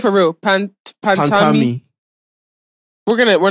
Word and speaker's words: Pantami: Pantami.